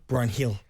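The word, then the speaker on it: Bryan Gil: but he's been injured how do you pronounce Brian Gill's name Brian Hill Brian Hill but Brian see he's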